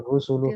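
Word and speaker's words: رُسُل: Tilkar rusulu faddalna. Coba ini bacanya apa ini?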